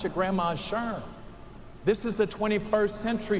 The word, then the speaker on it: SHRM: This is not your grandma's Shurm. This is the 21st century Shurm.